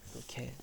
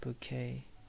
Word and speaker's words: bouquet: It's called this is called bouquet. I've seen a huge bouquet bouquet, we don't have to, we don't have to pronounce T, even though there's a T at the end.